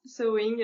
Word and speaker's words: sewing: le tir du bas sewing euh tout le monde personne sait le prononcer c'est compliqué ce mot en anglais ouais en fait ça se dit saut comme un saut ouais et tout le